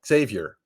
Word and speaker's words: Xavier: Xavier.